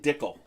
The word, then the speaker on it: Dickel: We got Speaking of Spy Kid and Dickel. Dickel, how do you like that? Sounds like a bad elf name. It rhymes with pickle.